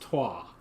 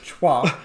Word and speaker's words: Troyes: I'm pretty sure it's pronounced Troyes. So, I don't know why. I don't know how. So Paul's going to call it Chwa. I'm going to call it Troy's.